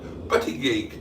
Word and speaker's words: Buttigieg: And asked Boaty to pronounce my surname, that's how it should sound. Buttigieg, yeah, I took a guess at that and apparently I got it right.